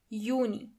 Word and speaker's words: Juni: As you know, the letter J is not pronounced as J, but as Y. So together you have Juni.